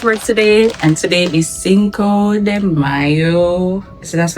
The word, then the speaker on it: Cinco de Mayo: I finished work today, and today is Cinco de Mayo. So that's how it's pronounced, and it's also Taco Tuesday, and it's also my cousin's birthday.